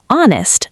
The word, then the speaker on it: honest: An honest man starts with a silent H. It sounds like honest, so an honest man.